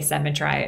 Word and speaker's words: symmetry: Nobody says symmetry, but to make the rhyme work, you would have to say symmetry in order for the couplets to work, in order for I to rhyme with symmetry.